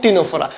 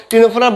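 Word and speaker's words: Ctenophora: কী হচ্ছিল সিওলোপ্লানা এবং টিনোফোরা তো দেখো টিনোফোরার বানানটা ইংরেজিতে কিন্তু সি দিয়ে শুরু এটা মনে রাখবা তোমরা তাহলে এখানে উত্তর হবে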